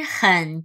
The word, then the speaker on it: 喝: Ni yao chi hen duo shu cai.